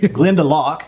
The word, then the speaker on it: Glendalough: have called it and glendalough glendalou glenda lock is how i've heard it pronounced okay l-o-u-g-h has got